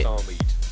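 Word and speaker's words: StarMade: Star Maid. It rhymes with maid.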